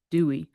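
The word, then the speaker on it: Dewey: It's Dwey. Dwey, like the decimal system.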